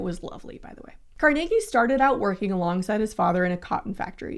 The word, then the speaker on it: Carnegie: And the most fascinating rich dude, in my humble opinion, is Andrew Carnegie. And yes, that's how you pronounce it.